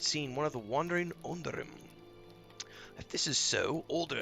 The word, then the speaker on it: Onodrim: I have to pronounce that properly. Onodrim.